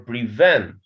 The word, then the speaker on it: prevent: Prevent or prevent? Prevent. Yes. So the stress in the second syllable, not prevent. It's prevent.